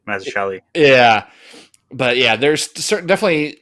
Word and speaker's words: Mazzucchelli: There's something similar about like I think you got it right, Mazzucchelli.